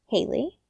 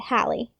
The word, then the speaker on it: Haley: similar to that, and my mother did not want people to mispronounce my name, Haley. So she spelled it in a way that people would read it exactly as it sounds and hopefully not pronounce it Hallie, right?